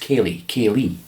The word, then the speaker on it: Ceilidh: dna h at the end there but it's pronounced kelly kaylee um so yeah i'll give you a couple